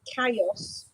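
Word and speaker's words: callos: sees it on a menu it's called you pronounce it chaos experience Bay it's c-a-l-l-o-s and that's striped you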